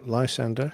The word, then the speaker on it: Lysander: a range of aircraft including Spitfires hurricanes uh Lysander is that how you pronounce that yeah Lysander yeah p-51s and p-47s based there over at